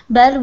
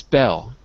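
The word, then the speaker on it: belle: So, what's a campus bell? What's a bell? It was spelled like that, B-E-L-L-E.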